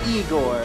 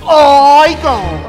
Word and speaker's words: Igor: So you must be Igor. No, it's pronounced Igor.